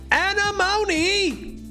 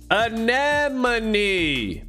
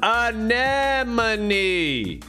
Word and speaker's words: anemone: all right look i don't know how to pronounce this i actually looked it up because i was calling it animony but that ain't how you say it bro